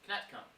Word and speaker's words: Knetcombe: to the city of Knetcombe. Now, I know, I had to pronounce the K at the beginning.